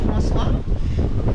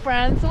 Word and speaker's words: Francois: We're now on our way to Francois, which is spelled like the French name Francois, but in Newfoundland they say Francois.